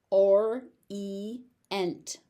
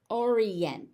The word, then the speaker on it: orient: In this case, they're pronounced separately, E-ent.